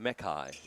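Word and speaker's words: Makai: And that's pronounced Mckai, right? Mckai Young. Mai. Mai. Mai. Mai. I would say Mai.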